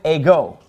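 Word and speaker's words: ἐγώ: Now, the word ego, it gets the accent on the second syllable. See, that accent is over the omega.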